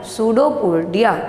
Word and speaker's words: pseudopodia: Pseudopodia, its pronunciation is pseudopodia, and P is a silent.